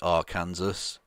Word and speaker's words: Arkansas: for governor of arkansas which should be r kansas you choose a way to pronounce it people or kansas has